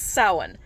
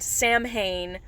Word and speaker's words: Samhain: watch things like supernatural this right here is pronounced salen it's Gaelic it's soin not Samhain or Samhain soin the MH in Gaelic is